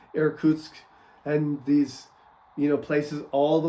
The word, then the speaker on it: Irkutsk: But the Russians never really had that because, Siberia and Yakutsk, and Maria helped me with this pronunciation, Irkutsk, and these, places all the way extending to the Bering Strait.